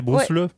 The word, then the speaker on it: Bruce Le: Alors que l'imitateur de Bruce Lee, Avec c'est un seul E, c'est Bruce Lee. Bruce Lee. Oui. C'est ça. Ça, on dirait un verbe, genre Bruce le.